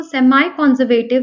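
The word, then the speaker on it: semi-conservative: तो चलिए समझते हैं पहला point that DNA replication is semi कंजर्वेटिव in nature. आप इसको सेमाई कंजर्वेटिव भी कह सकते हैं फॉर प्रोनाउंसिएशन। सो अब सेमी कंजर्वेटिव यानी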